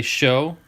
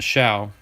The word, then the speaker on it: Show: pull eric's card but it is pronounced shao by the way a lot of people say show but it isn't pronounced shao i got to meet